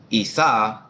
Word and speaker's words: Isa: quick real so now Esau Arabic romanized as I mean Isa is pronounced isau is a classical Arabic